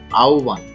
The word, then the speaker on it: আহ্বান: আহ্বান, এই উচ্চারণটি অনেকেই আহ্বান বলে থাকে বা আহ্বান বলে থাকে, কিন্তু আসলে সঠিক উচ্চারণ হচ্ছে আহ্বান, এর উচ্চারণটা হচ্ছে আহ্বান।